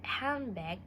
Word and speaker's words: handbag: Actually, in the word handbag, we don't pronounce the letter of D.